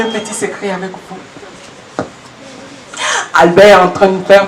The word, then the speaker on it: Albert: Albert, ça se termine par un T. Mais on le prononce sans le... On le dit sans le T. Voilà, Albert.